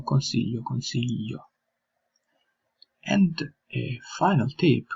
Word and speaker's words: consiglio: Then another tip could be pronouncing yi as we pronounce LJ, yi. For example, consiglio, consiglio.